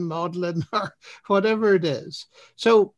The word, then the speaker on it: Magdalen: he stands outside modern college and tries to pronounce it whether it's magdalene modeling or whatever it is so that really is